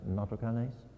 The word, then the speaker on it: nattokinase: nattokinase genetokinase or n-a-t-t-o-k-i-n-a-s-e japanese pronounce it nato kanes it's from japan and